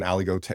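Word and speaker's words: Aligoté: I've done just an Aligote, we call it Aligote weekend, but Ali is spelled like Alleyway.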